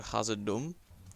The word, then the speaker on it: Khazad-dûm: Then you've got Elrond, who goes to Khazad-dûm. That's how you actually pronounce it.